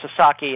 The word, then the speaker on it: Sasaki: And uh Joshu Sasaki, and I should uh make it clear, it's it's pronounced Sasaki.